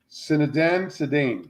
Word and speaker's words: Zinedine Zidane: His name is Zinedine Zidane.